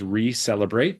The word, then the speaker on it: ReCellebrate: As you were kind enough to mention, our brand name is Re-Celebrate because we are celebrating the renewal of your cells through these new ways. And that's spelled RECELLEBRATE.